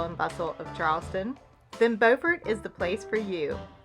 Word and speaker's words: Beaufort: to pronounce the name not to be confused with both a town and county in south carolina spelled exactly the same but pronounced buford north carolina's version of